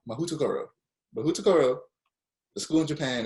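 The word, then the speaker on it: Mahoutokoro: It is pronounced Mahutokoro. Mahutokoro.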